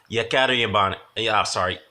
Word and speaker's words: Yekaterinburg: To be honest, I didn't like the previous fight with Sergey had in how do you pronounce the city? Yekaterinburg, which is in Russia.